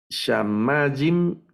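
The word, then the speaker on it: שמים: Shamajim, que significa cielos o cielo, podría ser la traducción también, ¿verdad? De Shamajim. Entonces, estas son otras palabras milel, se acentúan en la penúltima sílaba.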